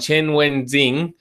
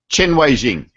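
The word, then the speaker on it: Chen Weixing: He says, why do modern defenders like Juicy Hook and Chen Wenzhing I've just got to get better at my pronunciation, Alois. Why do these Chen players Wei-jing. Sorry? Chen Wei-jing.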